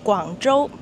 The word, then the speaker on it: Guangzhou: So the city name is Guangzhou.